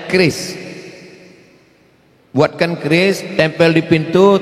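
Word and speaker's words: QRIS: Cara bacanya keris.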